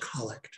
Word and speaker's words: collect: the day so it's just pronounced instead of collect it's pronounced collect but it is it is a set prayer that is used to to really the themes of the day so for example the collect for today um some of you have heard